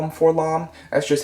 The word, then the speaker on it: 4-LOM: for LOM I know that I've seen it pronounced for LOM or for L I've had a lot of people like tell me that um I always call him for LOM that's just how I've always called him um